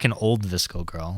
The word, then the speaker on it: VSCO: Hashtag Visco Girls. What? No. You know what a Visco Girl is? I do. It's spelled VSCO, right?